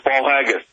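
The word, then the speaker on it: Paul Haggis: I'm pronouncing that Paul haggus I think I'm pronouncing that right uh Mr Miller it is it's Paul haggus fantastic uh listen so much to go over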